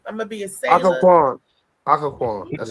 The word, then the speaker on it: Occoquan: Occoquan. That's how you pronounce it.